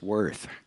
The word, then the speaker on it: Wirth: Klaus Wirth came, and Klaus said, "How do you pronounce my name?" He said, "If you call by name, it's Wirth. If you call by value, it's worth."